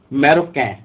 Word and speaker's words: marocain: देखिए यहाँ पे जितने भी नेशनलिटी दी गई है, इनके ना हम आखिरी के जो अक्षर है ना, वो बोल नहीं रहे, उनको हम साइलेंट कर रहे हैं।